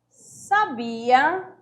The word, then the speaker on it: sabia: E aqui eu tenho sabia. Sabia é paroxítona também. Só que aqui não precisou de acentuação, né? Que aí é o verbo.